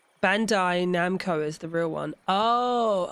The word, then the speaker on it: Bandai Namco: The name Bandai Namco, often mispronounced as Bando Namkai, is a classic example of the human tendency to reorder familiar sounds in unexpected ways.